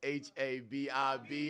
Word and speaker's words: Habib: That's H A B I B. Habib, spelled like hello but with a B.